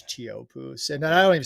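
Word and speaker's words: Teahupo'o: off the end of the road yeah it's chopo and I don't even say it right tiio poo but but hey it's a pretty cool place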